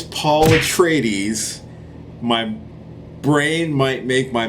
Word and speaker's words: Atreides: I know it's Paul Atreides.